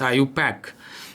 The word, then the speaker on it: IUPAC: Now the IUPAC system, IUPAC, which is pronounced as IUPAC, is a system which is very systematic.